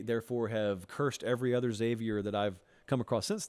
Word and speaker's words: Xavier: pronouncing Worthy's name wrong I go really really hard on the X and it's just Xavier it's not X Xavier but I had a